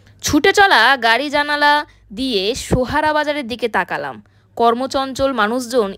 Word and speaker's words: সোহারা: এর উচ্চতা 1484 মিটার চেরাপুঞ্জির স্থানীয় নাম সোহারা বা সোরা স্থানীয় খাসিয়া ভাষায় যার অর্থ কয়লা ব্রিটিশদের উচ্চারণে সেরা হয়ে যায় চেরা ছেলেবেলায় কিন্তু চেরাপুঞ্জির নাম